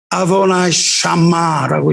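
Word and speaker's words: אֲדֹנָי שָׁמָּה: 여호와 삼마는 언어로 읽으면 아도나이 샤마라고 읽어요.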